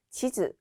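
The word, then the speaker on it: 地図: 지즈, 단음으로 읽죠. 주의하실 점은 치즈라고 단음이 아니라 장음으로 읽는 경우에는 먹는 치즈가 되기 때문에 발음 주의해 주시고요. 지도의 경우에는 단음으로 치즈라고 읽는다는 점 주의하시면 되겠습니다.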